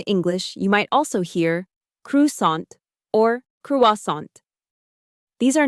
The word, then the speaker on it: croissant: The word croissant comes from French. So the pronunciation is a little different.